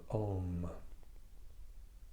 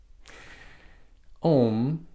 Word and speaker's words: Om: simply the recitation of om om usually looks like om but the pronunciation is really broken down into three different parts and it's said together